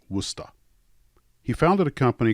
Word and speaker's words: Worcester: He later went to Worcester Polytechnic Institute, and yes, it is pronounced Worcester.